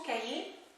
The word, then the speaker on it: cahier: Attention, cahier, c'est un mot difficile. On avait vu qu'il y a un H muet et que le son Y s'écrit IER.